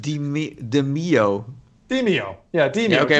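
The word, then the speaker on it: Demeo: Demio, which is a fantastic game.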